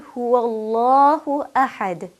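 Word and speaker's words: هُوَ اللَّهُ أَحَدٌ: Allahu Ahad the world that precedes the lamb in Allah has a Fattah it carries the Fatah so therefore that Allah the loving Allah will be pronounced heavily well who Allah who ahead I'm sure you could hear the heaviness of the lamb coming through well who Allah who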